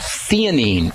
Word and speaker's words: theanine: Another relaxing supplement is something called theanine. And that's spelled T-H-E-N-I-N-E.